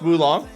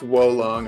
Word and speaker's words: Wo Long: Is it not pronounced Wulong? It's Wolong, I think.